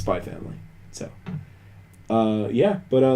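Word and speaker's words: Spy × Family: first time somebody on whether you uh pronounce the x or not and i guess you don't it's just by family not spy x family yeah uh yeah i'm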